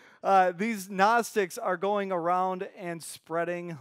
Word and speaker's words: Gnostics: a normal man and these people were called Gnostics and if you want to pronounce it like it's actually spelt its ganach sticks cuz there's a G in front of there and if